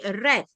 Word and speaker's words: read: So perkataan read dia akan jadi red tapi ejaan dia sama.